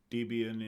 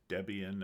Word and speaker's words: Debian: As you can see, I've got Debian in here, or Debian as some people pronounce it.